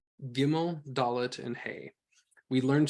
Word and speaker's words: Gimel: So Gimel, without a dagesh, is pronounced Gimel, Gimel. You're still trying to do the G sound, but you're trying not to have it be plosive, rather fricative in the back of your throat.